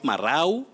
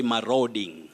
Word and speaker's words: marauding: long vowel sound o maro not marau not maro you say my roading my roading thugs my